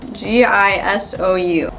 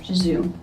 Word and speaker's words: Gisou: Then I'll finish it off with this lip gloss oil by, don't know how to pronounce it, G-I-S-O-U. Gisou.